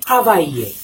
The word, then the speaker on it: travailler: When you have two vowels side by side and there are two L in between two vowels, you will not pronounce the L. The L will be silent.